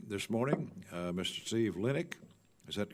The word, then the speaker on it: Linick: to our subcommittee this morning uh Mr Steve linck is that correct pronunciation that's correct sir uh Inspector General for